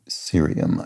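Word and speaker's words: cerium: Curium has a hard C and serium does not. So, we pronounce the C like an S.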